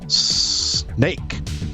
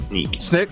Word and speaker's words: Snyk: our next webcast with Snake. Our second, did I pronounce that right? Sneak? Sneak. Used to what be is Snick, it, Matt? now it's Sneak.